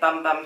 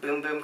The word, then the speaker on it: Bum Bum Cream: the that looks like bum bum cream I think it's actually pronounced boom-boom cream but let's be real bum bum is just so much funnier the scent on it